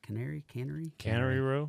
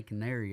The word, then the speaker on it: Cannery Row: Cannery Row. Cannery Row. Yeah. We'd say Canary over in Caneyville, Kentucky.